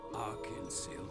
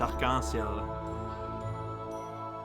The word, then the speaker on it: arc-en-ciel: Once upon a time, in the great Arkansas Kingdom. Oh, that's how you pronounce that. Huh? That's rainbow in French. Arc-en-ciel.